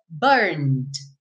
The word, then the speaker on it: burned: Então você diria burned. Lembrando que o E não é pronunciado, então você não vai dizer burned, right? You didn't say that, right? Então você diz burned, burned, ok?